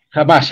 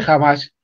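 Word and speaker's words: Hamás: de lo que es jamás creo que se pronuncia así no mut Jam o ananás no No jamás Bueno yo lo pronuncio jamás jamás jamás bueno jamás son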